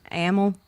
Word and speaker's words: Amell: How do you pronounce his last name? Amell.